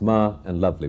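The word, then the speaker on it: Malavli: And I wonder if there is a symbolism to that, because when I asked him how I pronounce this, he said it's Ma and Lovely, but we'll get to that in a moment.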